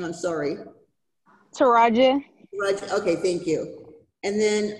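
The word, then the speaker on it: Triajeh: it was dying earlier but t-r-i-a-j-e-h i can't pronounce that name i'm sorry taraji okay thank you and then um was this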